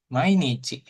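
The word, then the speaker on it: 毎: Jadi mai bacanya.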